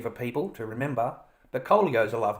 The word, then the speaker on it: Kolio: How do you pronounce that? Kolio. Kolio.